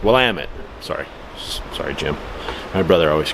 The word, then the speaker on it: Willamette: It's pronounced Willamette. Willamette? Not Willamette. Willamette.